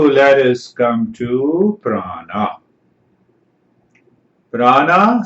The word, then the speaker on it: prana: Prana, Sanskrit word. Pra is a prefix. Nami ana is a suffix. So both becomes prana, 2 syllables.